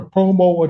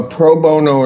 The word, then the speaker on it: pro bono: Uh is it a such thing as a promo attorney? A what? Uh, I may not be pronouncing that correctly. A lot of denture work done. Proono. Proono attorney. Yes. A pro bono attorney.